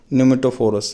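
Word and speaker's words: pneumatophores: फॉर the purpose of the breathing, सांस लेने के लिए, they developed A special root called the न्यूमेटोफोरस। उसको न्यूमेटोफोरस, पी साइलेंट है यहाँ पे, न्यूमेटोफोरस की जरूरत पड़ती है।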